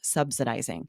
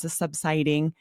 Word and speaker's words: subsidizing: I found myself stuck with the pronunciation of a particular word, subsidizing. I kept saying subsiding.